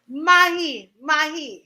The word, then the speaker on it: Mahipaul: MAHIPAUL. Say it again. MAHIPAUL.